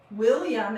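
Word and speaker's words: Wailam: William and Sis, and it's called William, and it's spelled W-A-I-L-A-M, and Sis Quartz Crystal Shui Rocks 1 pound agate.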